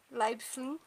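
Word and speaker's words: Leiblfing: Na cidade de Leibfling. É pra ser assim a pronúncia, eu pesquisei no Google, é pra ser assim.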